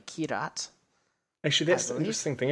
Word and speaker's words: Kyrat: If you've never played Far Cry 4 takes place in the fictional country of Kyrat, or Kirat. Depends on kind of who's pronouncing it in the game. It's generally Kirat.